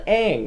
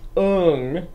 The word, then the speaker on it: Aang: its own world in the world he's called aang not un gosh freak somebody two people liked it really